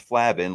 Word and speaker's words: Flavin: So, for those who don't know how to say it, it's not Flavin, it's Flavin, like flaccid. Okay.